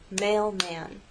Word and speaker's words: mailman: Now, mailman actually has two syllables, mailman. We can divide it right there, mailman.